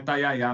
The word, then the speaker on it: Tayayá: Olha, é taiá. A gente teve esse debate, eu e a Valentina Moreira, que que estávamos cobrindo essa história sobre como pronunciar, mas é pelos funcionários, pelo que os funcionários disseram, é taiayá mesmo.